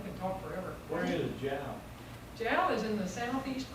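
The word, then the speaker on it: Jal: Well, most people would pronounce it Hal, or they would think it was a Spanish connotation, but it was an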